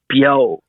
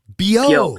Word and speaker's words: Beo: music, and it's pronounced BEO. BEO. So as if you were saying, So as if you're saying yo, but with a B in front of it.